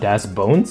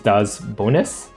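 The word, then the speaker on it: Daz Bonez: and Mr one oh he's not Das bones he's Das bonis okay I've been pronouncing his name wrong this whole time sorry Mr one bz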